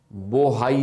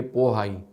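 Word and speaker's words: Bohai: यह पढ़ने को मिले बी ओ एच ए आई यानी वहां लिखते बी है बोलते पी तो कई जगह आपको बोहाई लिखा हुआ मिलेगा लेकिन उसे प्रोनाउंस करेंगे पोहाई येलो सी के बाद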